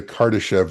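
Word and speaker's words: Kardashev: Um, and actually I'm mispronouncing that. It's called the Cardartesev scale.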